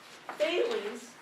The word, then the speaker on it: Thales: And this is how we pronounce them today in English. Thales, Pythagoras, Heraclitus, Democritus.